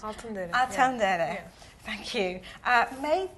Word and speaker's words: Altındere: Altındere.